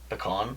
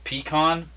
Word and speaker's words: pecan: Pecan? Pecan pie. So there's pecan, or pecan. How do you say it? Pecan pie. Pecan pie, yeah. I say it pecan. I don't say pecan.